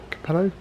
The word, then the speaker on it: Capello: Driven by Guy Smith, Tom Christensen, Wanda Campello, pronounce his name? Capello.